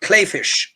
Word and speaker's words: Kleefisch: So it's spelled Kleefisch, but you say it Kleefisch, who according to Sacred Rhythms is a far-right evangelical up against Governor Tony Evers.